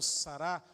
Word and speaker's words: Sarah: é eucaristia O Cardeal Sarah na verdade a pronúncia mais correta é o Cardeal sarará e Roberts ara se aposentou